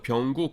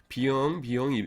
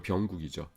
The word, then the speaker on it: 병국: 그래서 제 이름들을 발음들을 못하는 겁니다. 그래서 병국인데 비영 이러는 거예요.